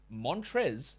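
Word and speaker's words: Montrezl: Montrez, that's how you say it.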